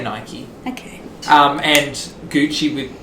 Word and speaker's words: Nike: so i think people mike or nike i say nike okay um and gucci